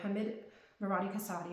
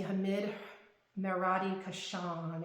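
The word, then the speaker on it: Hamid Merati-Kashani: Hammed Marotti Casad. Okay. Another really well-known um perfumer. Excuse me. Hammed Marati Kashan. Excuse me, I mispronounced his name.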